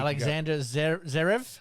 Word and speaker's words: Alexander Zverev: And now plays You pronounce this better than me, Pete. You can Alexander Zverev.